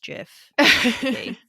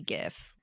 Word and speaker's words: GIF: become one of like the age-old like gif versus jif except that it's definitely gif no matter which way you you split it because jiff already exists with a j and it's peanut butter